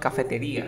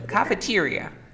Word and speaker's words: cafeteria: It's not cafetería, sino cafeteria.